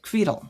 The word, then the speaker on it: Quittel: So when I write my name in Hebrew, it's Kaf Vav Yud, and it gets said Quittel. Quitell. Oh, wow. They pronounce it Quittel in Hebrew in Israel.